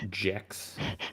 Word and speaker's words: Gex: believe it's pronounced Jex.